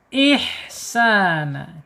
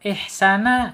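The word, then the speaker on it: إِحْسَانًا: Ihsa ya, di sini sin fathah. Fathahnya panjang banget tuh ya. Menghadapi alif ini mad tabi'i ya, panjang dua harokat atau satu alif atau dua ketukan. Ihsana gitu ya.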